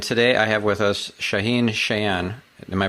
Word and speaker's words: Shaahin Cheyene: stephan spencer and today i have with us shaheen chan am i pronouncing that correctly absolutely all right awesome so